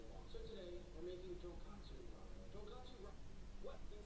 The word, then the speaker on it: tonkatsu: So tonkatsu ramen makes sense. It's pork bone ramen. But katsu mean cutlet. So tonkatsu means fried piece of pork. That's completely different thing. Say it properly. Tonkatsu. At least Nick is trying,